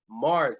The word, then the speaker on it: MXRS: the name right like your name Mars is not spelled like m-a-r-s right it's that it's an X there as well is that intentional where's